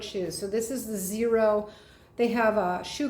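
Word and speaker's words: Xero: also a company called zero and it's not spelled with a z it's spelled with an x x e r o and these are true barefoot shoes so this is the zero they have a shoe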